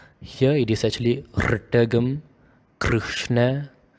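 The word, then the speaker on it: कृष्ण: So you grind the R. You make it a little bit more rough, like in this example, Krishna. The R, it is a R, like a vibrative and a grinding kind of sound.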